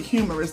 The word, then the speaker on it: humerus: So the humerus bone is Humerus, but you pronounce it humorous.